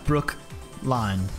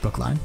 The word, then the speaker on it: Brookline: No, Brookline, but it's all one word. Brookline. Okay. Las Palmas, Brookline.